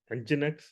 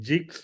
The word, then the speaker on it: nginx: nginx okay we call it nginx and the pronunciation is nginx somebody saying jigs or something you know all of this components